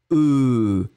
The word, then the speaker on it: œufs: Mais quand vous le mettez au pluriel, eh bien, vous allez le prononcer d'une façon complètement différente. Vous allez prononcer œufs. E, ce sera le son que vous allez prononcer. Donc le F n'est pas prononcé, le S n'est pas prononcé.